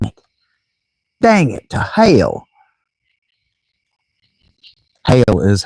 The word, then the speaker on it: Hela: Hail is how, Hela, the goddess, her name is actually pronounced more like Hail.